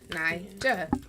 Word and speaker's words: Ny-Ja: It's hyphenated, which makes it different. And I don't know why it trips people up because, I mean, if you went to school, you know syllables. A hyphen is just like a pause. Nija.